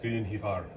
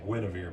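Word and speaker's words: Gwenhwyfar: tell the english that so is ivar that's how you say her name we say gwynevere but it's good to fire but that's beside the point and then he's got maybe another 70.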